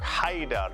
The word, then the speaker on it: Ḥaidar: So, let's start with the Arabic and then we'll move over to the English. In Arabic, Haydar ala. So we'll start with Haydar.